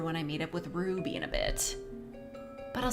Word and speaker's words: Ruby: Ruby. Also, Little Red Riding Hood. Very funny. Stella, you never say my name right. It's Ruby. You gotta say it with the roo. Like a roo. A roo.